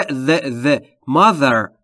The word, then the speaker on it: mother: در مورد تلفظ TH در mother دقت بکنید. حالت دوم از تلفظ TH یعنی زبونتون زیر نیش دندونه بالا سعی میکنید بگید ز زنبور. میشه the mother.